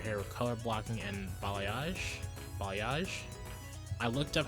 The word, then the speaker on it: balayage: In addition to solid colors, you can further customize your hair with color blocking and balayage.